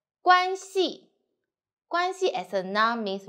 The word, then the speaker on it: 关系: 撇折撇折点竖钩点点关系关系 as a noun means relationship 我和你的关系是老师和学生 The